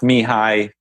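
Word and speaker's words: Mihály: I don't know how to spell his name, but his first name is Mihaly. So it's pronounced Mihai.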